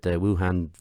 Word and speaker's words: Wuhan: He was calling the Wuhan, is that the correct pronunciation?